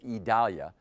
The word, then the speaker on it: Idalia: All right, folks, here's the latest on Idalia. That's how we're being told to pronounce it, Idalia.